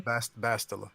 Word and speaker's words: Bastila: Bastila, yeah.